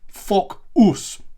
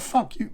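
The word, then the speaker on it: Focus: The first syllable being Fock, right? F-O-C, Fock, saying that after me, Fock, and then us, Fock, us, right? So Fock and then us. Put those together, Fock. Not fuck you, not Fock US.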